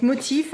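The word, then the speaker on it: MOTF: alors celle-là voyez motif donc motif il paraî que ça se prononce comme ça c'est généralement des pièces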